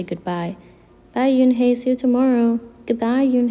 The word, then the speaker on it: Unhei: in hey shadow ralph everyone tried to say it yin hey in hey yoon hey said her name again slowly and clearly soon the kids began to say it better even mr kokoda's they